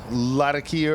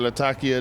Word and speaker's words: Latakia: Yeah, this has got Latakia or Latakia, depending on where you put the emphasis, the emphasis on which syllable.